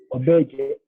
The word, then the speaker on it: auberge: O, auberge, auberge. E at the end is silent, so we say auberge.